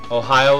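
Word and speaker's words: おはよう: of saying good morning Ohio is that how you pronounce it like the State Ohio yes okay oh everyone if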